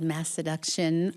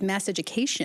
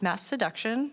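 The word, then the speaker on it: Masseduction: I have to say I didn't know initially how to pronounce that because it's a very fun word. You can really play around with it. I thought it was mass education for a while.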